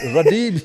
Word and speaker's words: Radebe: They couldn't pronounce my name properly. Radebe. Radebe.